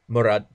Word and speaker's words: Mourad: Mourad. That's close. You gotta be more fluent with it. Mourad.